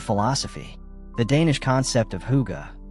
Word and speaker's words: hygge: The Danish concept of hygge, pronounced hygge, is essential to Scandinavian barn interiors.